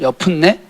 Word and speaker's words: 여분네: 여기 여분네가 여푼네거든요. 여푼네. 발음이 이상하더라고요. 여푼네.